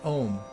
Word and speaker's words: Om: to try a mantra it's one syllable it's pronounced om it's a seed Mantra